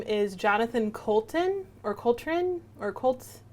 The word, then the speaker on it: Coulton: And I apologize because I don't know if I know how to pronounce his name fully correctly. But the artist's name is Jonathan Coulton, or Coltrane, or Cole. It's Coulton. I would say Colton.